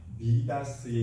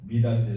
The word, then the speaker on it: 미다스: 그리스 로마 신화 가운데 미다스의 신화가 있습니다. 미다스, 그러니까 영어식으로 발음을 하면 마이다스지요.